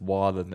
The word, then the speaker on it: Waugh: I believe it's Waugh, the way you pronounce it.